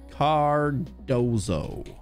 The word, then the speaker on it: Cardoso: life i haven't john ginny i've written johnny cardozo is how he would be pronounced if he was is that him yeah